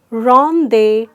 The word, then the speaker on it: rendezvous: Well, it is rendezvous, and although there is a Z, but we don't make that sound. So we don't make the Z sound there.